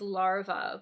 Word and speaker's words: larva: So the singular is larva, but the pronunciation changes when we make it plural.